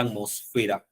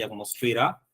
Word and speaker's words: atmósfera: una palabra propiamente dicha, la palabra atmósfera, ¿no? Atmósfera. Pero sí es también aconsejable usarla en la terminología, ¿no? Sí. Pero la palabra más reconocida ahí es atmósfera, ¿sí? Atmósfera. Claro, pero también pertenece a la tildación optativa, ¿sí? La palabra que no pertenece a la tildación optativa por ningún caso, colegas, aparte de atmósfera y atmosfera, es la palabra monocromo, ¿sí?